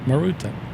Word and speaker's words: Maruta: You don't need to put an accent on them. Just Maruta.